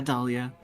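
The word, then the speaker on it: Dahlia: My name has a silent H in it. Uh, yeah, Dalia. It's after the A and before the Leah.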